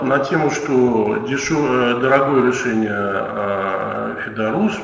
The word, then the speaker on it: ФЕДУРУС: Ну вот на тему, что дорогое решение Федорус, мы все-таки ударение на последнем слове делаем.